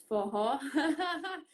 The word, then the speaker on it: Forró: Forró. Forró, this is one of the words that you pronounce it with like an H.